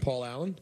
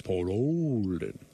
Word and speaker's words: Olden: look alike you and Paul Allen that's right what about you and Paul didn't don't even you're saying it wrong it's Paul Olden and you said but